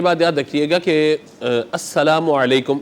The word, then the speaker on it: السلام علیکم: یاد رکھیے گا کہ السلام علیکم یہ درست تلفظ ہے اس کا۔ بعض لوگ السلام علیکم یا السلام علیکم اس طرح سے کہہ رہے ہوتے ہیں، تو یہ نہیں، بلکہ السلام علیکم اس طریقے سے درست سلام ہو، اور جواب پھر وعلیکم